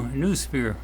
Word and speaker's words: NuuSphere: So that was the new Noosphere. Now that's spelled N-U-U, then S-P-H-E-R-E, because it's sphere in